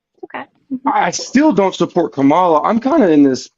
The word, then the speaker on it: Kamala: It's Kamala, or you could say Harris. It's like Uh, a comma.